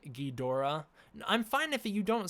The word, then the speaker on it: Ghidorah: So in Japanese, the word is pronounced Ghidorah. It's Ghidorah. Well, I said it weird because my throat's all scratchy, but it's basically when the Japanese say it quickly, they say Ghidorah, right? So a lot of people think, oh, the common, the real pronunciation is Ghidorah. It's not necessarily that. It's a lot more enunciated in the actual Japanese.